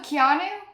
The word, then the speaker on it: Keanu: You have to It's Canu Reeves and and Sandra Bulock. You have to say Oh, Keanu.